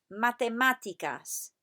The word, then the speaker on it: matemáticas: Y ahora, repetid, matemáticas. Put the emphasis on the A with the accent on it. Matemáticas. Muy bien, repetid, matemáticas.